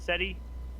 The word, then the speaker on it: SETI: seti yeah how do you say is it seti thank you yeah um i just read an